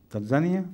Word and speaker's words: Tanzania: Tanzania some say Tanzania which is the correct pronunciation it is Tanzania Tanzania yes not Tanzania I think I